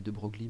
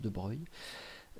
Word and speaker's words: de Broglie: cela le en 1924 louis de broglie enfin que ça s'écrit de broglie mais en fait ça se prononce de breuil propose d'associer à chaque